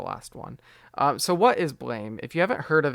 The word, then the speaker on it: BLAME!: So, Blam by Tsutomu Nihei, uh, or Blame, as I thought it was called, but it's actually pronounced Blam.